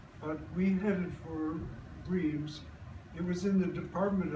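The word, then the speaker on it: Reims: r e i Ms it's more something like grass I'm barking grass and it's different from rims but we headed for RS it was in the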